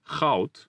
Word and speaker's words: goud: Another diphthong that might be difficult is the sound made by AU or OU, which is pronounced like this, au. It can be found in houden, which means to like, and goud, which means gold.